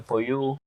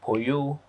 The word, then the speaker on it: Poyoo: And the Poyoo, I do read rhyme. And the rhyming, my boss is called Spoto.